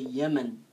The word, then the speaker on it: Yemen: me no human oh approximately we say Yemen this is the right way to pronounce it the team in I know we write in English this way but we say it's Yemen it's pronunciation Yemen okay it's a good